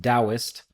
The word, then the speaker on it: Taoist: I also know that the word Taoist is pronounced Taoist, but for whatever reason that feels disingenuous to me saying it.